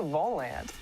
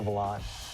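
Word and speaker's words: Volante: Lately, you might have seen one of these red stands around campus and wondered, hey, what's the volant? Well, actually, it's pronounced the volant.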